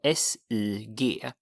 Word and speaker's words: sig: It sounds like say in English, but it's spelled S-I-G and it's pronounced sig. Sig.